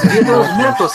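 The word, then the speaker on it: Día de los Muertos: I'm going to ask you to pronounce it right, and it's Dia de los Muertos. Thank you. Nope. It's Dia de los Muertos.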